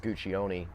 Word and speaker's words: Guccione: here from Sicily, and it is pronounced Guccione, but they wanted it to be more fluid and American sounding. So some of the family began pronouncing it Guccione, and some say Guccione. I just kind of go with the more authentic version, but I'll respond to both.